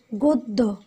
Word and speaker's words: গদ্য: এরপর হচ্ছে গদ্য ইত্যাদি। তো গদ্যের ক্ষেত্রে খেয়াল করো সেটা কি জফলা, কিন্তু এর উচ্চারণটা আমরা দুবার পাচ্ছি।